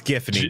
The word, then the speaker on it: Giffany: Maybe it's pronounced Giffany? It's Giffany, bruh.